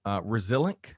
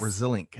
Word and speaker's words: Resilinc: Um, so you mentioned the company Resilink, right? That's Resilient, yes. Resilink, and that's spelled, folks.